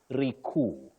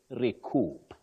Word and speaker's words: recoup: and then they say recu which is inaccurate you say recoup the p is pronounced okay um Willis before